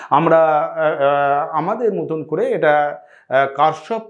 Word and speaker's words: Kirchhoff: উচ্চারণটা দেখো কোন মানে কিরসফ কারসপ এই বিভিন্নভাবে উচ্চারণ থাকে আমরা আমাদের মতন করে এটা কারসপ উচ্চারণ এইভাবে আমরা করবো